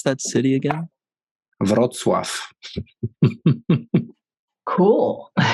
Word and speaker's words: Wrocław: The city is called Wrocław. That's southwest. Okay. Like cool. 100 kilometers from German border. How do you pronounce that city again? Wrocław. Cool. Wrocław.